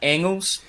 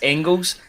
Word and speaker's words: Engels: say his name, Arne Engels. Now, people have been saying it's Engels, but I've got it under good authority that it's Engels for the player. You don't pronounce the G.